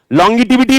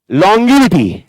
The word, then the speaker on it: longevity: लॉन्गिटिविटी नहीं, लॉन्गिविटी।